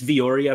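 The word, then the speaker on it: Villoria: Vori, I'm guessing it's Vioria based on um how that usually sounds how Spanish names are usually pronounced.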